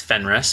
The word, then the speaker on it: Fenris: them at four were it's Fenris by the way the pronunciation cool so my thoughts